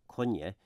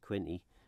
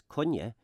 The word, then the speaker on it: Quinney: the the Manx surname Konya which looks as though it might be pronounced Quinny sadly a lot of